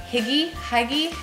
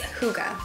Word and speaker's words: hygge: a little what's that how do you pronounce it Higgy huggy it's Kouga okay so I was